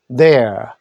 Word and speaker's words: there: 유턴 there. there. th는 the 소리인데 돼지 꼬리 발음입니다. there. 라고 합니다.